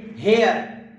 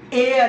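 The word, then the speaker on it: heir: हमारे दोस्त कहते हैं इसे हेयर, जबकि सॉरी टू से दैट इसका एक्चुअल प्रोनंसिएशन एयर है। एयर का मानी है वारिस, इसमें एच जो है वो साइलेंट हो जाता है, और एयरेस यानी वारसा, सीगाए मुअन्नस।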